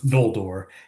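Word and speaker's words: Ñoldor: type of n, but it's a much more narrow like n g sound that you kind of get in some of the other languages.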